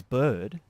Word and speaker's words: Byrd: in that do you so your name is bird yeah is that the name you were born